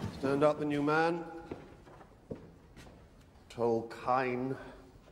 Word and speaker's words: Tolkien: Tol Kain. It's Kain, sir. What? It's pronounced Tol Kain, sir, not Tol Kain.